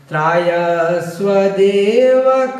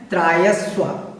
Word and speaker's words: त्रायस्व: तीसरी जो पंक्ति है उसमें आया है त्रायस्व। त्रायस्व जो यहाँ पर आया है उसको त्रायस्व बोलना है। 1-2 बार अगर आप इसको बोलेंगे तो आपका उच्चारण ठीक हो जाएगा।